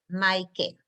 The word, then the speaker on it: Micah: say your name so you say my you spell my name like my it's like my sweater and then a cake my cake so you got it